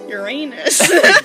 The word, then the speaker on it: Uranus: pronounce Uranus? Uranus.